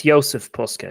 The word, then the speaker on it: Jozef Puska: said ysf is it y yeah yeah it's Joseph Pusa yeah yeah okay right okay so uh next